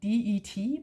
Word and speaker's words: det: The word det is spelled D-E-T, but we only pronounce it det.